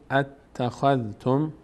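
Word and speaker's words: أتخذتم: قل قل اتخذتم اتخذتم دقت کنید اتخذتم دو بار ت خونده میشه میشه میشه اتخذتم عند اللهی اینجا نون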